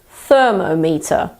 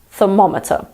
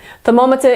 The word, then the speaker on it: thermometer: get this word wrong it's normally the stress that they will get wrong the stress is the weight that you put on a syllable so I've heard people say thermo meter instead of thermometer thermometer is the British